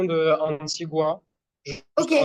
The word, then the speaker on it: Antigua: prononciation de Antigua. Ok, Juste Antigua, bien prononcer le U et pas Antigua.